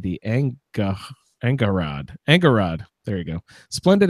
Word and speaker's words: Angharad: character splendid anga heart and I can't even pronounce an A NGH ar ad ANCA Angharad Angharad there you go splendid Angharad i listened